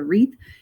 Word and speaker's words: wreath: And it, again, W doesn't make the sound. So we've got the wreath. You'll see these at Christmas time all over.